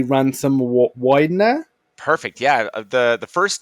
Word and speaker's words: Wydner: no problem just to confirm is am I pronouncing your name correctly Ransom Widener perfect yeah the the first name people get